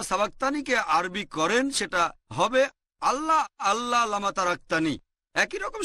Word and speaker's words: আল্লাহ: একটা বৈশিষ্ট্যের নাম হচ্ছে আল্লাহ তারা লেখে আই এল এ তবে উচ্চারণের সময় আমরা তাদের উচ্চারণ করতে শুনি আল্লাহ আশা করি উত্তরটা পেয়েছেন